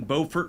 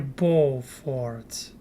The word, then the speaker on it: Beaufort: Number 7, Beaufort, North Carolina. All right, folks, let's talk about Beaufort. And it is Beaufort. Beaufort? Are you serious? I was thinking like Beaufort because beautiful. But here Beaufort.